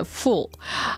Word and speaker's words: fool: Оно читается full. А вот как-то глупый... Коротко, быстро, да, более коротко. А глупец, дурак, действительно full, F-O-O-L.